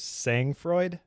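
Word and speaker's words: sang-froid: wrote it down, was saying Freud, I think is how you say it, say N G F R O D, which is unflapable coolness under pressure.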